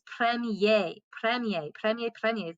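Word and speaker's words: première: have to add that accent so then it's pronounced premier so premiere premiere premiere premiere premiere okay now that is our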